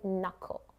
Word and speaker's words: knuckle: C silent. We say knuckle.